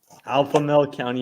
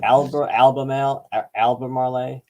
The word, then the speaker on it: Albemarle: Alphamale County, Virginia. Yeah, that's. Is that a real county? No, it was just me failing trying to pronounce this. No, I'm kidding. Albemarle.